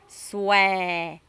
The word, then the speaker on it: xòe: Un peu comme ouais. Xòe. Xòe. Comme souhait, mais vous pincez un peu plus en fait la bouche.